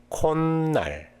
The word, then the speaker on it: 콧날: Should plus neum equal should change it to the nin. In this situation, the pronunciation of should is digit, and when it is paired with a nasal sound such as neum, it is pronounced as nin.